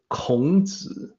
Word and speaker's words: Kongzi: That's the correct pronunciation for what we call Chuang Tzu, Zhuangzi, Sunzi, and Kongzi.